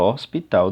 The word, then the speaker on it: hospital: o hospital que acontece na palavra hospital se você perceber bem o h ele não é pronunciado veja o hospital não preciso do h